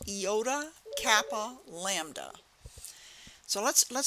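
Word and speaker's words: iota: with a little trick eoda e yikes e yikes we've got another cluster e yikes Kappa is a cap and Lambda yikes we're putting a cap on a lamb you know it works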